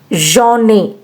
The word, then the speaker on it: j'en ai: Now let's try to pronunciate it. Je-en ai, j'en ai.